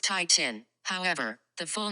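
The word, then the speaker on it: titin: for the longest word English language Titan is pronounced Tai Chin however the full name of the protein is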